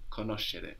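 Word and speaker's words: conoscere: to know the city good the sound in K is spelled s c so we've seen how c e gives us CH but s c gives us like in Kos c o n o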